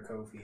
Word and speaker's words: Ko-fi: I've heard people say Coffee or Ko-fi. I don't know. Ko-fi, actually. That was, like, Yeah, like for hi-fi and lo-fi, yeah.